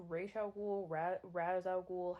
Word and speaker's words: Ra's al Ghul: Is it pronounced Ra's al Ghul, Raz al Ghul?